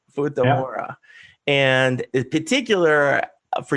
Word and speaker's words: Futamura: Andy Sweetman, and you are the sales and marketing director over at Futamura. Did I say it right? That's correct. Futamura.